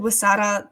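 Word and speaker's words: Huesera: the title again please it's called It's called wasada The Bone woman that's spelled h u e s e r a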